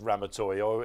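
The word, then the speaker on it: Ramatuelle: in the far again very easy to pronounced it's Ram toy every time Seb says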